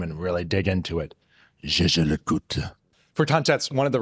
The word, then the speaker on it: Jaeger-LeCoultre: The brand themselves pronounces the full name as Jaeger-LeCoultre. Here's an example for reference. Jaeger-LeCoultre. But there are plenty of industry veterans who pronounce it Jaeger-LeCoultre because one of the two co-founders was named Edmund Jaeger, and that's not exactly a French name.